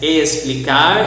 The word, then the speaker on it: explicar: Also we have the Z, exemplo, the S, explicar, and the sh, enxergar. So the letter X can be pronounced as sh, S, Z, or x.